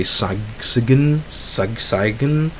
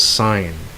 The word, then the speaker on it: sign: For example, a simple word is a sign, right? Of course, you don't say sagsigen. Yeah, of course, it's sign, right?